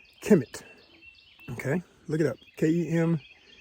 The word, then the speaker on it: Kemet: okay look it up k-e-m-e-t sometimes k-e-m-t it just depends on how you want to spell it but that's the assumed pronunciation commit kemet okay ancient egypt the